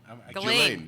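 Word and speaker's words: Ghislaine: Glaine. Glaine. G H I L A I N E Okay. How come you can pronounce it so correctly?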